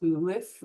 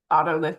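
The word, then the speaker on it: otolith: I've heard it pronounced ulith orith. Those are fine, too. Ottolith is what I'm going to say.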